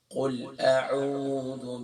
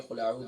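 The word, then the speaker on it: أعوذ: بات ہو چکی ہے قل اعوذ برب الفلق، قل اعوذ بھی. لیکن دوبارہ توجہ کہ قل اعوذ بھی نہیں ہے، اکثر پڑھتے ہیں قل اعوذ بھی، قل اعوذ زو نہیں ہے، ذو ہے.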